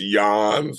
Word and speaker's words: Jens: don't know if it's yans or Jens because it's spelled Jens and and Dutch culture stff we say yans side off it's Jen's